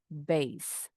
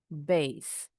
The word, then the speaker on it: bass: Gitar bas pengucapannya base. Base. Ikan bas ini sejenis ikan kakap putih. Bacanya bas. Basse. Bas.